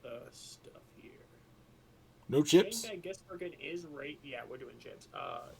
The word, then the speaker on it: Shane van Gisbergen: it, but I say it correctly, so it's Shane Van Gisbergen. I don't see that! Screw you! Alright, anyway. Cup Series. Cup Series. I'm just going to look at the stuff here. No chips? Shane Van Gisbergen is yeah, we're doing chips.